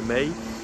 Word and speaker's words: Mae: Et donc Emma Watson qui incarne May, ou Mae, ça s'écrit M-A-E, donc une jeune demoiselle